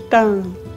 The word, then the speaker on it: táan: Veja a diferença na pronúncia de tan e tan.